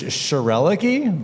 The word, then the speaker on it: Schroerlucke: And is that a correct pronunciation of your last name? It is Schroerlucke, but I was really admiring the joke of we are sure are lucky to have Schroerlucke here.